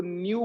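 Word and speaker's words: nu: ऐसे ही ये ऐसे होता है, इससे फ्रीक्वेंसी को रिप्रेजेंट करते थे आप 10th में, इसको न्यू बोलते हैं, न्यू।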